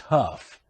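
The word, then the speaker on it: Hough: His name is pronounced Huff, but it's spelled H-O-U-G-H.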